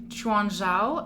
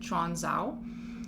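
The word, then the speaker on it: Quanzhou: i'm pronouncing that correctly but i have heard that you pronounce cues with that cha sound instead so it is spelled q-u-a-n-z-h-o-u so that's why i'm pronouncing it chon zhao or chongzhou that city actually was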